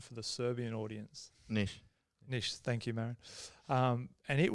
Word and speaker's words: Niš: I remember we spent 8 days in a place called Niš, excuse the pronunciation for the Serbian audience. Niš, thank you, Marin.